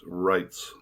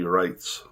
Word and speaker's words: Reitz: under the understanding that in german the e i is pronounced i if it was i